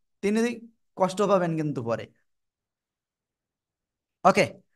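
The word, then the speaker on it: ت: কোন জায়গা থেকে উচ্চারণ হবে জানেন আপনারা? জিব্বার আগা। এই যে দেখেন, দুটো দাঁত, বড় বড় দাঁত, দুই দাঁতের গোড়ায় লাগাবেন, লাগিয়ে একালিফ টেনে উচ্চারণ করতে হবে।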